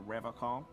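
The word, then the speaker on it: Revachol: But someone has to stay strong for Revacol. He pronounces Revacol with a hard K, unlike other people.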